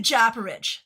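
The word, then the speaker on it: Japaridze: The Japarage.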